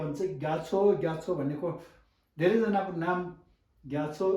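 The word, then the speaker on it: རྒྱ་མཚོ: त्यसरी गर्दाखेरि र गत ग, ग यत ग्या, माओ छ नारो छो, ग्याछो, ग्याछो। तपाईँहरू यदि तामाङ शेर्पा यस्तै भोटे सिक्किमिज टुप्पा यस्तै हो भने चाहिँ ग्याछो ग्याछो भनेको धेरैजनाको नाम ग्याछो राखेको छ।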